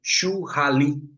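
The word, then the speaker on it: shuhari: Eh, acho que o jeito certo de falar seria chuali. Eh, porque o o eh, igual a gente fala lamen, não fala ramen, né? Mas eu tô tô a brasileirana aqui para falar churari, porque é o jeito que escreve, né?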